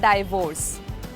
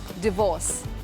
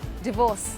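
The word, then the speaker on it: divorce: The word is डी आई वी ओ आर सी ई इट्स नॉट डिवोर्स। इट्स डिवोर्स। The pronunciation is डिवोर्स।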